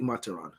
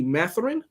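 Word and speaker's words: Mathurin: number standpoint you guys are gonna like Benedict mataron and I like I'm pronounced like The Islander in me pronounces that name that's only I'm gonna remember because it's supposed to be matherine right if you want me to say it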